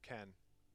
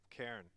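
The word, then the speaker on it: Cairne: Oh, Ken. Poor Ken. Ken Bloodhoof. Cairn. Ken. Was I saying his name wrong? Ken? It's like a hard air. Ken. You're saying air. Cairn. Yeah.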